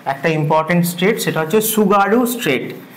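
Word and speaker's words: Tsugaru: important straight সেটা হচ্ছে সুগারু straight সুগারু straight টি এর উচ্চারণ হয় না তোমরা যেমন সুনামির ক্ষেত্রে জানো সেরকম এই সুগারু স্ট্রেট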